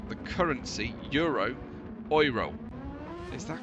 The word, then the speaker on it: Euro: So correct as it as it is pronounced Oro which is I find terrifically ironic I have to say.